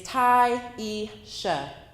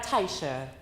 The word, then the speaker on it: Tyisha: other países de Sudamérica could not or would not pronounce my name correctly. My name is Tyisha. Instead, I got Taisha, Tasia, Triesha, or some other version with silent letters.